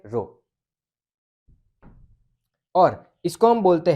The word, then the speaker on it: rho: इसको कैसे प्रोनाउंस करते हैं, RHO, ठीक है, रो।